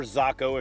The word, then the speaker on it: Zako: take the uh yamamoto zako or zocco if you want to pronounce it properly and bite off the